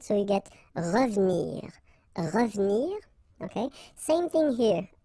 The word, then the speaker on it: revenir: Well, here it's exactly what we've been saying, because it's the second syllable, so you get re and then ve and nir, but then clearly you don't pronounce it, so you get revenir, revenir, okay?